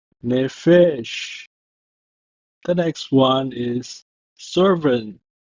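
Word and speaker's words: נֶפֶשׁ: It's pronounced as Nephesh, Nephesh.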